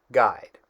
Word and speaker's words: guide: Let's go to the word guide where the U is silent because it has a longer I sound with a dominant short masculine ending.